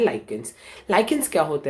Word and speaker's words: lichens: अभी लाइकेंस की स्पेलिंग क्या है मैं आपको बताता हूँ, LICHENS, LICHENS, तो उसको बोला जाता है लाइकेंस।